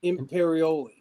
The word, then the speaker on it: Imperioli: How do you pronounce it? Imperioli.